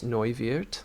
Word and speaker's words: Neuwirth: As far as her origin story, Conchita Wurst is known as Thomas Neuwirth. Excellent pronunciation. Kind of looks like Neuwirth.